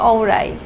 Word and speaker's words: অওরি: আমার নাম হচ্ছে অরী। বলতে বলতে এটা অরি হয়ে গেছে। বাট আপনি যদি Googleুগল ট্রান্সলেট দেন এটা আসবে ঔরাই।